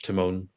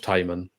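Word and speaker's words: Tymon: Fischer Josh ke Ben kabango Philip lar Josh Timone saying his name wrong again it's been the summer break Josh tyman Matt ryes Joe Allen oy Cooper ronal azim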